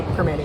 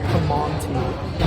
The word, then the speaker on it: Primanti: if you say it you say Perman Brothers It's almost like p r instead of p r i but you definitely don't say prom to don't pronounce the T